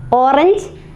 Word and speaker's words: Orange: Orange, we pronounce slightly different, orange. O-V, orange. It is written in the same way. In English we read it orange, but German orange.